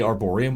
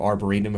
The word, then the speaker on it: arboretum: have got out of the arborium or Arboretum for pronouncing it correctly and you find a